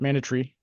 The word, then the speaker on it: mandatory: how he said it, mandatory. I think it's how the British pronounce it, just kind of like missile.